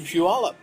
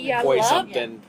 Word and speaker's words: Puyallup: And I was like, well, you obviously know Washington because you pronounce Puyallup. Right, yeah. And because most people are like, how I would Poi something. Yeah. Pui something.